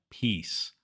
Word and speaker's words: peace: as Beach and she if you say it incorrectly peace will sound like piss so stretch out the E vowel again and make sure it sounds like peace peace number nine crab crab